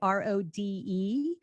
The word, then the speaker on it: Rode: My boom arm is by Rode, Rode. And anything you're buying from Audio Technica, from Rode, or from Shure, which is spelled with an H, Shure, they are reputable,